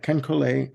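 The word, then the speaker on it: Ken Caillat: itself it says produced by Lindsey Buckingham with kencolay and Richard dashut that's how you spell say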